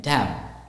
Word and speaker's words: damn: it's pronounced as biscuit now the word Dam d a m but when you pronounce it the N becomes silent the N is not pronounced so the N is instead of that n we take we're not going to say that it's just d a m damn likewise castle c a